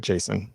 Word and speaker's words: JSON: I pronounce it Jason.